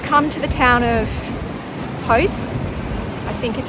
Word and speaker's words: Howth: It is our first hike here and we've come to the town of Howth, I think is how you pronounce it.